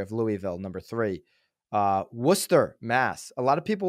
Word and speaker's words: Worcester: west and the South when you see w-r-o-r-c-e-s-t-e-r Mass that's Worcester okay they're coming in at